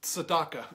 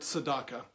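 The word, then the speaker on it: צדקה: But the first Hebrew word is tzedakah, and what I want to get to is the root of why giving is a part of our lives.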